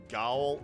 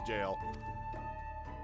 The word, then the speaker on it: gaol: me to refuse yes that is actually pronounced jail even though it looks like Gaul it's they said it once before in the game it's jail bottle my good man